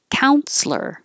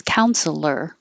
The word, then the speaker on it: counselor: Counselor. You can use 3 syllables, counselor, but it's more common to drop the middle syllable and make it 2.